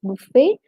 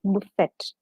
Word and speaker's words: buffet: is meant by a buffet system, or let's say simply speaking buffet. Remember, the last T is silent, so you pronounce it as buffet and not as buffet.